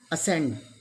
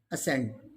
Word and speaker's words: ascend: s and c both are adjacent then c is silent signs next one is ascend a s c e and d ascend next one is acquire when there are c